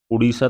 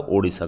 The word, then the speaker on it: ओडिशा: उड़ीसा का नाम जो अभी 2011 के आसपास बदला था, उड़ीसा था वो ओडिशा कर दिया गया है, इसे उच्चारण सुधरा है, इसमें कुछ बदलाव आया नहीं।